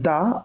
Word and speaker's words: the: এখানে দা আর হচ্ছে সেফটি, এই দুইটা হচ্ছে একসাথে অ্যাটাচ করা আছে, এটা সেপারেট হবে। সো দা, এটা প্রোনাউন্সিয়েশন অ্যাকচুয়ালি দা হয় না, দি হয়।